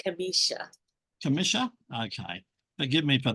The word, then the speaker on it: Kimmisha: So good evening, Commissioner. How are you? I'm good. And it's actually pronounced Kimmisha.